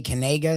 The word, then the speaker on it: Kanega: They made it like a long A, Kanega now.